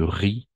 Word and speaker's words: riz: riz n'est-ce pas arrose du riz du riz le le Z on ne prononce pas des pâtes pas